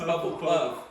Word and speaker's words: Hufflepuff: It ain't even Puffle, dog. It's Huffle. It's Hufflepuff. Hufflepuff, okay. I ain't even know So that. you're going, Hufflepuff, okay, dog.